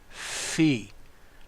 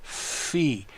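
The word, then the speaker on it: phi: can pronounce it Upsilon the next letter is the fee notice the Greek doesn't have an F but it does have a pH this is a fee as a faux NOS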